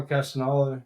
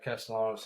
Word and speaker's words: Castellanos: Tommy Castagnolo, or however you pronounce his name. Castellanos? Yeah, Castellanos.